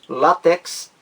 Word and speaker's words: látex: acento agudo no ar uma vez que é palavra de dupla prosódia de dupla pronúncia diz a opção b tanto faz dizer látex paroxítona quanto oxítona látex não só existe